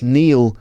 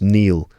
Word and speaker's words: kneel: That's Neil spelled K N E L. That's not Neil as in someone's name. Neil Cassidy. Neil Diamond. That's K ne, which is pronounced Neil.